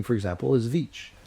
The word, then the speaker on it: Veatch: name for example is vich. Vich is spelled v e a t c. You can't even fit them on your your hand. T c, right? So, it's actually three sounds. Va.